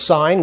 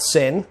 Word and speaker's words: sine: it and learn the shorthand so this was signed not sin sign does cosign not cos and this is